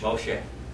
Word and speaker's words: Moshe: Moshe.